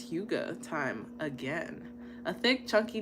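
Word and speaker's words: hygge: Huga. That's not what it looked like. Huga. Huga. Girl, get your Huga on. It's spelled it is spelled Hyggge.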